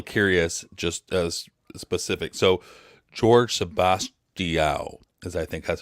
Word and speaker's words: Jorge Sebastião: So, George Sebastião, as I think that's how I pronounce it. Is that correct? Yeah, Jorge Sebastião. Jorge Sebastião is fine.